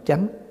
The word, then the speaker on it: chánh: Chính pháp đọc là chánh pháp, vì người Bắc đọc chính, mình đọc chánh.